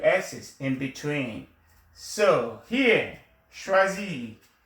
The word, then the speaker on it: choisi: So here, choisis. You say je, you drop your R. So j'ai choisi. J'ai choisi. The S here is like a Z sound.